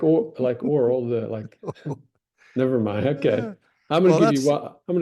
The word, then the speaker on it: orle: You can choose to pronounce. Now here's a really short one. Here's a really short one. It's oral, a narrow border inset from the edge of a shield.